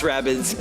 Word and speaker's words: Rabbids: Well, at both the Ubisoft and Nintendo shows, we finally got to see Mario plus Rabbids Kingdom Battle. I think that's how it's pronounced.